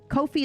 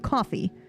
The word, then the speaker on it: Ko-fi: Kofi is pronounced Kofi instead of coffee.